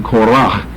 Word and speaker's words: Korah: And we like to accent the first syllable. Korah, not Korah, but Korah.